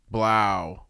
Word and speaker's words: Blough: Well, no, it's David Blow. We're going with anything but Blau. Blau is the worst pronunciation of that name. It may be the correct one. It's still the worst.